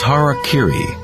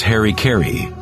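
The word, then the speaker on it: hara-kiri: one form of ritual suicide or seppuku was harak Kiri was often mispronounced as Harry KY it means to impale one's Hara thereby cutting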